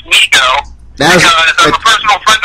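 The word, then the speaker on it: Mego: let me reso Brian it's not Lego it's Migo because I'm a personal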